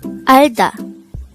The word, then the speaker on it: 알다: The word Alda could be divided into two syllables. Alda. Al is formed from the combination of the sounds of a, real, and a no-sound ian at the first position of the syllable, while da is formed from the combination of the sounds of dikat and a.